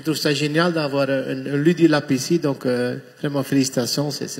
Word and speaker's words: Ludylab: Ludilab. Il faut que je prononce bien, sinon je dis Rudilab, c'est pas le but.